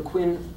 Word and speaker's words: Qin: and it's pronounced either Quinn usually pronounced chin those spell Quinn in